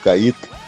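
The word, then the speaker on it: Kait: Os convites foram limitados, até porque a Nissan neste evento do lançamento oficial do Cait, Cait é K A I T, né?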